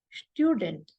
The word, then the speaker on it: Student: So here, whenever ST comes at the beginning of the German word, it is pronounced as st. And U with umlaut, it's pronounced as U and not U. So it will be student.